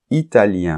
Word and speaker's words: italien: par exemple italien italienne et là il y a une différence de prononciation puisque italien masculin on entend la nasale un Italien et italien féminin on entend le N la lettre N que on nentend pas pas dans le masculin italien italienne et en plus le